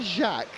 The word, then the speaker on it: Jacques: I love the way you said Jacques. Like he was French.